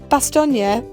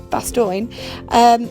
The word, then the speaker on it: Bastogne: And Bastogne, or as I pronounced it all the way through the trip, Bastogne, was massively affected by this, because something that